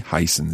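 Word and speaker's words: heißen: are you called what is your name v heisen z the heisen c how would i answer that question how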